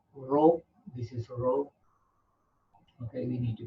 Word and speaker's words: rho: that by the Greek letter Rho this is Rho okay we need to pronounce like Rho so you have to write